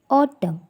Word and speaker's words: autumn: First, autumn. N is silent letter.